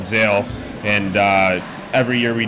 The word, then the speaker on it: Zale: right at it get let's get the proper pronunciation here yeah it's called Zale so Zale z a l e I like